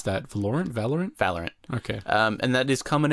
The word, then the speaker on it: Valorant: How do you pronounce that? Valorant? Valorant.